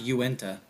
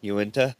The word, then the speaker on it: Uinta: And this thing's saying it's pronounced Uinta. That works. Uinta.